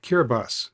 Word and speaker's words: Kiribati: But before that, most important, you'll need permission from Kiribati, which is pronounced Kiribati, since the island is part of that sovereign